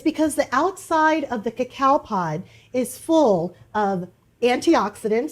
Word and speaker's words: cacao: need cacao powder and I'm pronouncing that right cacao versus cocoa and let me explain why so cacao powder